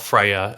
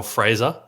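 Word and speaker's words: Freijah: So I've actually been told it's not Freya, it's pronounced Joel Fraser. Yeah. Some of the Bulldogs guys in Slack gave me a bit of stick about that last week. So Joel Fraser for the Bulldogs, he would be my number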